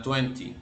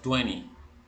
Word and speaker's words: twenty: que les había mencionado el número 20 en el inglés británico suena Twenty así como nosotros lo vemos en el inglés americano la segunda t no se pronuncia en la mayoría de acentos americanos Entonces nosotros decimos Twenty